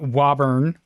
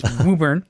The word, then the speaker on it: Woburn: press release it's woor it's not Woburn it's wuber okay you got to say it right um that's a good